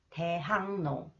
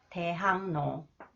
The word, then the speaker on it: 대학로: Okay, and it is a 대학로. Okay, 리을 comes after the final consonants 기역. 리을 is pronounced 니은, and 기역 influenced by 니은 So it is pronounced 이응, 대학로, 대학로.